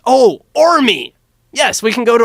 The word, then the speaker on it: Qormi: He says, "Oh, Ormi! Yes, we can go to Ormi." Or Starts with a silent Q.